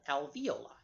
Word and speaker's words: alveoli: s the lobules contain milk secreting pockets called alveoli al vol i yes that's the same term